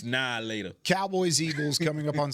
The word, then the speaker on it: Now and Later: Now and later. Nope. You from the Pacific Northwest. That's how you say it. How you Now later. Now That's later. the South. Now later. It's nah later.